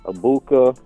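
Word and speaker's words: Egbuka: Dependable on like Burdon coming up and down abuka uh that's how you say his name Ohio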